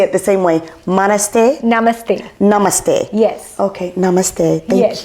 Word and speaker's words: namaste: Mane namaste.